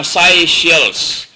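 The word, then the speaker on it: Seychelles: umabot sa 100 ang pang 100 ay ang si shells Uh spelling is ito country na si shells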